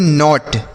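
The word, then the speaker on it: knot: के एन ओ टी इसे हम पढ़ते हैं नॉट। के एन ओ टी नॉट।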